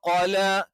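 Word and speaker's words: قَلَى: അല്ലാതെ നഖം എന്ന് പറയുന്ന ഖായൊന്നുമല്ല. അപ്പൊ ചില ആളുകൾ മലയാളത്തിൽ അത്തരത്തിൽ ഈ അക്ഷരത്തെ പ്രതിനിധാനം ചെയ്യാറുണ്ട്. പക്ഷെ ക എന്നുള്ള ഉച്ചാരണം കൃത്യമായി എന്ത് ചെയ്യണം, നാവിന്റെ തുടക്കം അതിന്റെ മേലെ അണ്ണാക്കിൽ തന്നെ ടച്ച് ചെയ്യണം.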